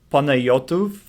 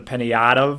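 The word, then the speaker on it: Panayotov: Payanotov is the official Bulgarian pronunciation. Now, when my parents immigrated here in their 20s, we came to Chicago, so that's where you get the Payanotov, a little Chicago in there to spice it up.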